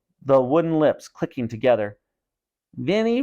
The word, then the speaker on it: Vinnie: wooden lips clicking together Vinnie rhymes with skinny he made the dummy